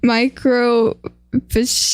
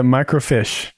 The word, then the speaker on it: microfiche: is it the mic micro fish eh you're eating my net it's a microfiche you're over pronouncing it what are you